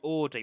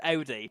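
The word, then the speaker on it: Audi: makes me feel sick when people say ay a friend says it to me and I'm like no that is not the right way to say it I said first of all you don't even like cars you have no say in this conversation it's ODI simple as and that's what the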